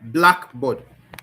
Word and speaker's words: blackboard: Now, words that are stressed in the primary syllable, in the first syllable, words that are stressed in the first syllable, like blackboard. The black is the one that is stressed.